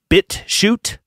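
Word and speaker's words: BitChute: alternatives folks some that i would recommend are bit shoot b-i-t-c-h-u-t rumble odyssey and the odyssey is spelled o-d-y-s-e-e i've also found some other ones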